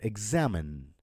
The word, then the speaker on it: examine: For stressed syllables, when X comes before a stressed syllable, it makes a GZ sound. So the example would be example, just as I said, or examine.